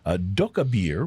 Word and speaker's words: Dokkaebier: Doka Beer, which is spelled Dokkaebier in Oakland, California.